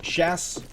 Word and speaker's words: SHS: Once again, if you're just tuning in, SHS is pronounced Shas.